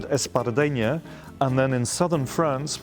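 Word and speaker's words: espardenya: Espadrille is how we pronounce it in America, but in Catalan, do they say espadrilla? Espardeña. Espadanya.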